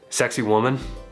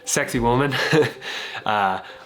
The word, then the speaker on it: Sacsayhuaman: There's the old ruins of Cusco, which are actually pronounced Sexy Woman. I am saying that right. Sexy Woman, which are just over the hill right here.